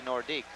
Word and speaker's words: Nordiques: I guess it's proper to say Nordique, isn't it? It's like Coliseum, the Coliseum. Here in Quebec, it's the Coliseum. And it's not Nordiques, it's Nordique. That seems to be the pronunciation I hear more than any other from the Quebec people.